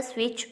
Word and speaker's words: switch: Turn the switch on. In this sentence, T in word switch is the silent letter.